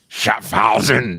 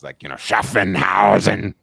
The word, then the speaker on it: Schaffhausen: I think that's like when he's saying Schaffhausen, Schaffhausen. When he had this IWC, he actually mispronounces it too, so it makes it even greater. Like he says, Schaffenhausen.